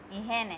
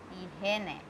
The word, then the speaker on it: higiene: ihene. H is silent in Spanish. So it will start again with E, he, ne, ihene.